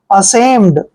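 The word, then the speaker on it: ashamed: एम ई डी देखिए ए का उच्चारण हम क्या करते हैं ए और एस एच को हम क्या पढ़ते हैं श ए को ए की मात्रा पढ़ते हैं एम ई का उच्चारण मैं करते हैं और डी को ड पढ़ते हैं असम असम होता है दो दो शर्मिंदा होना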